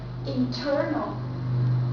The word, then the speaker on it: internal: N goes with T, but we have to stretch here. And we have to stretch in the second syllable, so we say internal. Internal. Internet and internal.